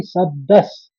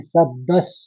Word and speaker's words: शब्दस्: फिर ऐसे ही शब्दस, दो स का उच्चारण भी आएंगे। शब्दस, क्योंकि द के ऊपर भी आघात है और स्व वाला शब्द है आगे।